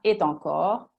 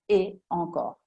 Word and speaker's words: et encore: E ancora, non si dirà et encore, si dice et encore, staccato.